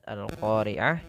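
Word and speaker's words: القارعة: al-qoriah ya huruf qaf-nya makhraj huruf qof itu bisa kita keluarkan ya atau itu makhrojnya adalah dari pangkal lidah kita bertemu dengan langit-langit atas maka pelafalannya adalah maka al-qoriah kemudian ha sifatnya ada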